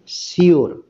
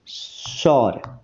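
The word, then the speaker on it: sure: ফর সর এই যে এই যে এই শব্দটার উচ্চারণ অনেকে সিওর অনেকে সিওর এইভাবে উচ্চারণ করে তো এই শব্দটার উচ্চারণ শিওর এটা বললে একদম ভুল উচ্চারণ হবে তাই না তো এটার সঠিক উচ্চারণ হচ্ছে সর সর সর ঠিক আছে তাহলে ফর সর মানে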